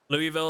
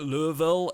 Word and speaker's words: Louisville: Louisville is a perfectly acceptable pronunciation of it anyway, even to Louisville residents. This is what I've been told by, like, so many people, is that, like, pronouncing it Louisville is, like, one of the... It's kind of like an older thing. Like, it's, like, the older residents sometimes pronounce it like that, but, you know, not